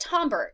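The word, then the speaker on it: timbre: then we have tomber so it's it's not pronounced Timber it's pronounced tomber tomber is our perception of how complex the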